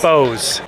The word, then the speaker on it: Bowes: to make sure I'm saying it right Foose Bose yeah I don't spell any cigar smell right